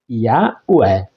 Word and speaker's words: Yahweh: Quando o liam, criaram o costume de escrever Hashem, ou seja, o nome, a pronúncia original se perdeu, mas a forma mais aceita no meio acadêmico é Yahweh.